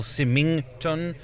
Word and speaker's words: Symington: simply hasn't simin time there is no G it's a solid G so if that's his mum or parents that have phoned in there from now on I'm gonna refuse to pronounce the G that is a big G we're gonna pronounce the G it's will Symington I am now a converted Symington fan with a G thanks to these really